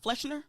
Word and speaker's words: Fleshner: You said it the right time, first time. Go ahead. Fleshner? There it is.